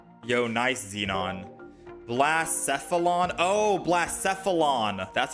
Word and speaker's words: Blacephalon: Oh, Blacephalon. That's how I pronounce it.